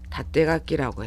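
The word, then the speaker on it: 縦書き: 똑같이 읽는 것은 요코가키라고 읽습니다. 그 다음에 세로 쓰기 다떼가키라고 해요.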